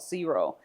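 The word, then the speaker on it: Xero: But I also see small businesses use another tool called Zero and that's spelled X E.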